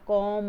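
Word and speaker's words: comb: sound नहीं आई है कॉम आएगा कॉम तो बी नहीं बोला जाएगा कब नहीं बोला जाएगा कॉम बोला जाएगा तो बी साइलेंट है यहां पर इसको बोलेंगे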